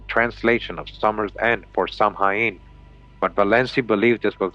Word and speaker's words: Samhain: was already well established that the name Samhain, pronounced Samhain, referred to the 3-day Celtic New Year celebration that began when the sun went down on the 31st of October.